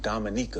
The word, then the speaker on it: Dominica: mom is from the Dominic your father is Dominico Dominica Dominica yeah oh okay not not Dominican Republic Dominica yeah now I know a number